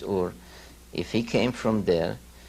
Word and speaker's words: Ur: from sumer came from a city called ur or heiress many he'll pronounce it but the true pronunciation is or if he came from